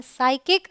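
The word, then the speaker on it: psychic: यहाँ भी PS है, इसे हम बोलते हैं साइकिक।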